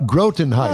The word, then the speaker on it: Grotenhuis: Grotenhuis. Oh, just like it's spelled.